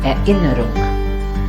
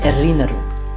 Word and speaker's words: Erinnerung: Ich erinnere mich, or Erinnerung, not Erinnerung.